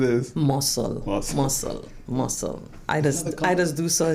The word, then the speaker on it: Mossel: So the correct pronunciation is? Mossel. I just do so I say Mossel.